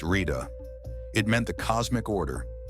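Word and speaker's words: Ṛta: Ira, pronounced Rita.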